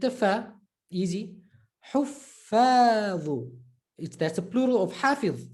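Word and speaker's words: حفاظ: Huffadhu. Like we say huffadh. And those you know, when you type huffadh, you type a double F. Double F in Arabic pronunciation, emphasized. Huffadhu. Right? So not huffadh, huffadhu.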